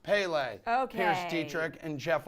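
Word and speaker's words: Pelé: set yes guys and I have confirmed it's pronounced Pele okay here's Dietrich and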